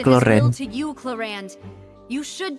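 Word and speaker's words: Clorinde: Tulisannya Chlorine tapi dibacanya Cloren.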